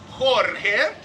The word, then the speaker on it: Jorge: My name is Jorge. As I tell everybody, if you don't know how to say it, when I say hip hip, you say Jorge. Hip hip! Hooray!